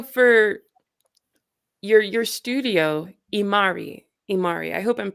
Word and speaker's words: Imari: marvelous uh so for your your studio imari imari I hope I'm pronouncing that correctly yes it's from Eva marinova